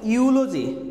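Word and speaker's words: eulogy: তারপরে দেখো ইউলজি, এখানে ই এর উচ্চারণ হয় না কিন্তু হ্যাঁ, ইউলজি দেখো ইউলজি মানে হচ্ছে কি তোমার প্রশংসা, ইউ উচ্চারণ হচ্ছে সবগুলা।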